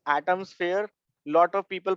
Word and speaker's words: AtomSphere: It is not atmosphere, it is Atomsphere. Lot of people pronounce it as atmosphere.